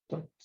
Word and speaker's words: thoughts: Thoughts. Perfect. Thoughts. Perfect. Thoughts. You don't pronounce the G as well, right? Like, nope. G silent. Yep. You say it like this. Thoughts.